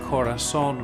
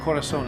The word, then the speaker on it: Korason: So, this method that has evolved and I call the Corazon method. Corazon is actually a homonym, meaning it sounds the same as the Spanish word for heart, but it's spelled differently for marketing purposes.